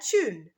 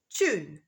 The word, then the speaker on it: tune: letter is TI and in American English there is a t sound at the start of the word tune but in British English